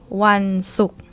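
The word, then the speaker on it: วันศุกร์: One suk. One suk. Yeah, low tone. Sa sala belongs to high class. This syllable low tone.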